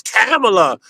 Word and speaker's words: Kamala: It's Camela, you know, just to try to call them racist cuz they're calling them Camala.